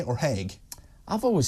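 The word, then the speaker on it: Haigh: good explanation is it he or heg I've always said heg everyone says heg apart from me but I just wonder where the G bit is as was h a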